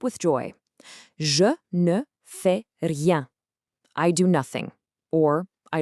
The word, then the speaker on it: rien: Rien means nothing. Just roll the R slightly. Rien.